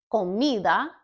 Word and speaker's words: comida: Comida, camino. Which syllable is more stressed in either one? Comida, the mi, that syllable is more stressed. It's just a little bit louder, but each syllable is pronounced the same.